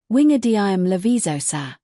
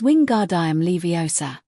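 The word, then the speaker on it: Wingardium Leviosa: Ron, you're saying it wrong, she snapped. and you're going to put someone's eye out like mine. It's wing guard leiosa.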